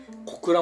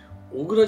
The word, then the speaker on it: 小倉: 小倉ってのじゃ本当は小倉じゃなくて小倉って読むんだっていうのをあのポケビ